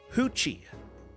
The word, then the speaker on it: Ruth: But I did learn that the name Ruth, pronounced in Portuguese, is Hoochie.